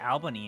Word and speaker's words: Albany: your feelings about Alber it's pronounced Albany you son of a